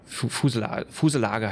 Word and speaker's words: fuselage: Fuselage heißt das auf Deutsch ausgesprochen und wie es Englisch genau ausgesprochen wird, Fuselage oder so.